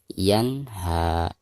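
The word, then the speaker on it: ينهى: Yan nun sukun berhadapan dengan salah satu huruf izhar, di sini huruf H. Maka cara membaca nun sukunnya itu harus dijelaskan ya. Yan ha. Ketika diwakofkan maka haknya dipanjangkan 2 harokat dihukumi mad tabi'i. Yan ha, seperti itu.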